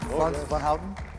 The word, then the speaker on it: Frans van Houten: Did I say that right? Frans von Houten? You said it great.